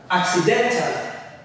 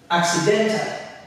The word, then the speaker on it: accidental: at some examples these words here we have accidental accidental accidental accidental if you pay attention you'll notice when i'm pronouncing it then it's clear for the towel